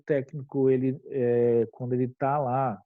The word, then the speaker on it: técnico: palavra técnico é acentuada a palavra técnico é acentuada por que toda proparoxítona é acentuada ou seja toda palavra que a antepenúltima sílaba seja a tônica ela deve ser acentuada tudo bem tranquilo então